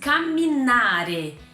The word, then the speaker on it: camminare: uma pequena ligeiríssima diferença ele não tem a gente não fala com a minha área mas o verbo em italiano se diz caminar tá então eu bloqueei